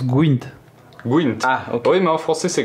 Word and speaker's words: Gwent: me permettre en tant que puriste ça se prononce gint gint oui mais en français c'est Gwent ouais il y a un e dans français